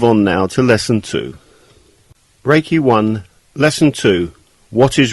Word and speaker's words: Reiki: meaning universal life force although the proper Japanese pronunciation is Reiki it has been westernized to Reiki Rey means Universal omnipresent present everywhere at the